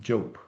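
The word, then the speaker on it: Diop: Last name spelled Dio P and pronounced job.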